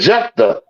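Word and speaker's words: Jephthah: I spell it. Um, Jeffa out of the land of Ja. That's it. Jeffa.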